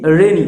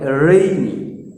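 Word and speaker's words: rainy: রেনি বলি, রেনি simply, কিন্তু এর উচ্চারণটা হবে রেইনি, রেইনি।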